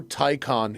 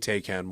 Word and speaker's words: Theon: But yeah, Enrico Palazzo wants to know how Tyon is pronounced. It's pronounced TYON. You can say I don't think anyone really gives a if you mispronounce it. And I will say Tan once in a while just for funsies cuz